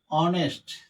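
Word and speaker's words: honest: অনেস্ট, এখানে কিন্তু এইচ এর উচ্চারণ হনেস্ট না, অনেস্ট।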